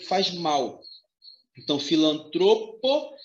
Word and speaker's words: filantropo: que faz mal então filantropo e misantropo são palavras paroxítonas com acento ou a